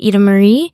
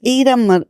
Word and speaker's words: Ida-Maria: So it's Ida Marie. I've been calling you Ida Marie. No, I know, because in Italian, like I is pronounced E, so that's why.